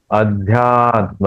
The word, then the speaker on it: अध्यात्म: अध्यात्म नहीं या या य का उच्चारण होना चाहिए ध आधा और उसको यहा ध्यात्म नित्य करेक्ट अध्यात्म नित्य अध्यात्म नित